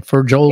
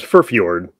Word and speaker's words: Furfjord: Furjold? Well, he actually pronounces it Raven, and then the last name is Furfjord.